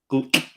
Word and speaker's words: Gull: I found out Gull in Iceland, in Icelandic, is pronounced Gulk. Gulk.